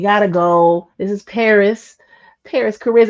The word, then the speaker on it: Parris Chariz: go this is Paris Paris Charis am I saying it right I'm saying it right because I I double check right thank you you said no you said it right the first time praise God Super Lucky